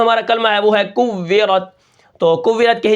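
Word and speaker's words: كُوِّرَتْ: کلمہ ہے وہ ہے کوّرت. تو کوّرت کے ہجے کس طرح ہوں گے؟ اس کو ہم کس طرح پڑھیں گے؟ کاف واو پیش کو واو زیر وی کوّی رات زبرت کوّرت وقفاً کوّرت. ٹھیک ہے، اس کے بعد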